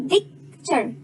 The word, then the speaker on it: picture: I, U, E, but the E here is not pronounced. You don't say it, we don't say picture, no, we say picture.